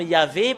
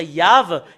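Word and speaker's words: יהוה: Le fait d'expliquer que dans la Sainte Écriture, que nous voyons que c'est faux le terme Yahvé, parce que c'est pas dans la prononciation. Et normalement, ça doit être Yav, et c'est VH la finalité.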